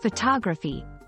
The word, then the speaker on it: photography: However, when we move to photography, the stress shifts, and the first O in photography sounds different, closer to the schwa sound.